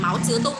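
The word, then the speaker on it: 毛泽东: Tuổi Máu Chứa Tung, đúng rồi. Ông này là ông Mao Trạch Đông đấy ạ. Tên tiếng Việt là Mao Trạch Đông. Tiếng Trung sẽ đọc là Máu Chứa Tung nhá.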